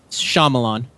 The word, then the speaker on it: Shyamalan: I'm voicing his name and trying to get the pronunciation of his surname right, and I can never do it. Say it again. Shyamalan.